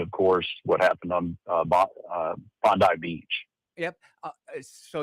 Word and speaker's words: Bondi: It's primarily going to be talking about Syria and, of course, what happened on Bondi Beach. Yep. So it's pronounced Bondi.